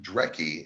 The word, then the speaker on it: Dreki: So when Dreki is actually a horrible spelling for Norse Draga, that's actually how it's pronounced, and it's the Norse word for dragon.